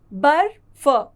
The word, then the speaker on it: बर्फ: और फ यहां बर्फ यहां ब के बाद रफ की मात्रा का उच्चारण किया जाएगा र बर फ बर्फ किंतु इसका इस्तेमाल होगा फ के साथ।